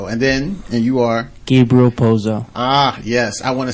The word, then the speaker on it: Gabriel Pozo: sure I say that right uh could you pronounce that for me Vilma rello RAV and then and you are Gabriel poo ah yes I want to say thank you